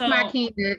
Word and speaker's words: Makina: I think that's your name, how you say it, Makina. It's Makina. It's pretty close. You're close.